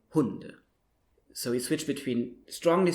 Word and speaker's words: Hunde: So in German, usually you stress the first syllable in the words. So you wouldn't say Hunde, but you would say Hunde.